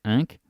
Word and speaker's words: ikke: If you pay attention, you say ik at the end.